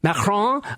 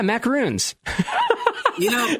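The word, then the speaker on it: macaron: remember she insisted on the French pronunciation of the maon and every time she would say maon I would say oh yeah macaroons and her face was just like you can't say that it has to be macron it's really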